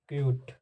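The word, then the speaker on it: cute: और उदाहरण को आप लिखिए सी यूटी ठीक क्यूट ठीक दिखाई दे रहा है कूट ठीक तो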